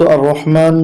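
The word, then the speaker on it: الرحمن: মিম খারা জবর একালিফ মা, আর রহমা। নুন পেশ নু, আর রহমানু। কিন্তু আমরা যখন এখানে ওয়াকফ করব বা থেমে যাব, তখন উচ্চারণটা হবে আর রহমান, আর রহমান, আর রহমান।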